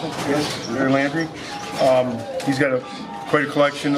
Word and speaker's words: Garrie Landry: Is that how you pronounce it? Yes, Garrie Landry.